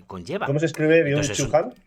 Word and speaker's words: Byung-Chul Han: ¿Cómo se escribe Entonces, Byung-Chul Han?